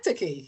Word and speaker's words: synecdoche: Synecdoche. Is that right? Hey, there you go. You Correct. did it. Synecdoche.